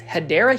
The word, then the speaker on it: Hedera: And then right over here we are going to start talking about hedra helix or what you call the hedera helix. Hideera helix is the correct way to say it.